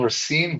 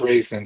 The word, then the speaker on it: Rine: Well, well, it's Rine, but uh when I lived in the US, I was always called Raisin. So, you can go with Raisin.